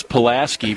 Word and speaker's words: Pulaski: Heck, no, it's Pulaski pronunciation.